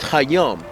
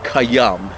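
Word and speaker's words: Khayyam: than they are with hayam you see they're they're both more comfortable of course you pronounce it kayam is a poet was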